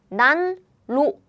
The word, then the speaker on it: 난로: To make it easily, we just pronounce it like double L. Double L. It's easier to pronounce. LL is easier to pronounce, as in 날로. This is how Korean people pronounce it.